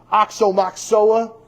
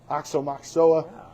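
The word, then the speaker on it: Aoxomoxoa: Oxomoxoa. That's how you say it. Oxomoxoa.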